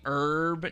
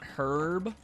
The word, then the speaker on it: herb: Evil don't Americans say herb not herb what like yeah the American pronunciation is that the H is silent but I've played Resident